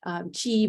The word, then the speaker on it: qi: to talk a little bit more about this, chi, but really it's, QI, but I ended up just kind of spelling it phonetically.